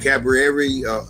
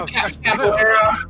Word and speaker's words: capoeira: with the what was that fighting style, that cabaret? How you pronounce that? Yeah, capoeira.